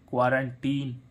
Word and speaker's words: quarantine: अब इसमें देखें QUARANTINE, यानी कि यहाँ पर क्या आ रहा है? आई, क्वारंटीन। इसमें भी वैसे इसका क्या होना चाहिए था?